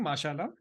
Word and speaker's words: mashallah: that's uh what is the right way to pronounce it are you saying mashallah mashallah correct so it's it's said in a